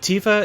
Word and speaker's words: Tifa: unfortunate in that like tifa if you wanted her name to be tifa you would have to spell it i guess t-e-e-f-a which looks terrible and